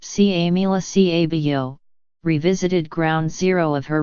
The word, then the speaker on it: Camila Cabello: here Ms Cabello xx whose name is pronounced SIA Mila CA vo revisited ground zero of